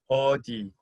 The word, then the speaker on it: 어디: 어디. Good. I like to think of the car brand. I don't know how you pronounce it in British English. AUDI. Where are you going in that Audi car?